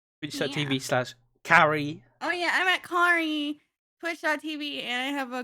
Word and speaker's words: Kari: Yeah, I was actually about to say, one day you'll say my name right. It's Kari. It's Kari.